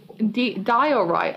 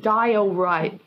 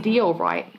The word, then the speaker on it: diorite: How you say it, diorite. Oh, diorite. English is so fucking weird. Why is it die-o-right? And not deal-right?